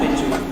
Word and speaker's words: Machu Picchu: actual mountain of Machu Picchu, and here we see the sacred river called the Vilcanota. For most speakers of English or Spanish, the first C in Picchu is silent.